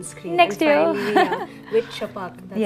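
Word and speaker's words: Chhapaak: Finally, with Chapak, that's how you pronounce it, because it took me like 10 minutes to put the pronunciation.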